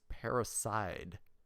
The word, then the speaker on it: Paraside: pronounce the word it's paraside like side not seed parasite parasite i don't